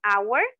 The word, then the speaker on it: hour: escucha con una O aunque estas palabras tengan esta H esta H está ahí pero no es entonces aquí es donde vamos a hacer uso también del artículo a con palabras que lleven una H muda Por decirlo así okay an honor un